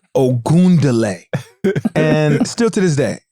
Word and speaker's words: Ogunleye: Still people sayal is okay, but it's ound like o where is the d in my last is oundlay.